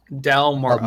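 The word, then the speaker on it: Dal-Mora: Dalmora. Mora. I'll spell it.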